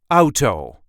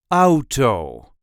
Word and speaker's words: auto: the way we say AO AO there is a light emphasis on the first syllable AO out to AO there are also Dutch people who will say Oto Oto o to Oto so AO or Oto I hope